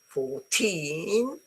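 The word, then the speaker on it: fourteen: So 14, but here's the beginning 40.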